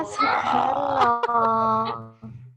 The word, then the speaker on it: Soekarno: Salah, Soekarno. Tulisannya ngono gak? Ya Allah. Bacanya Soekarno.